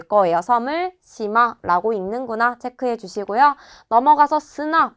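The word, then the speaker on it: 島: 섬을 시마라고 읽는구나 체크해 주시고요.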